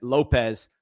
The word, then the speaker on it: Lopez: By the way, he pronounces his last name accurately. He's not out here calling himself Jason Lopes like Castellanos. complete ashamed of his heritage faker. Let's get Jason Lopez where he belongs down here in uh in Miami.